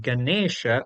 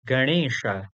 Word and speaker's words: Ganesha: So, to give you an example, the word Ganesha is not having that usual N in it. Indeed, it has this rna at the place of N. So, correctly, it is not Ganesha, but rather Ganesha.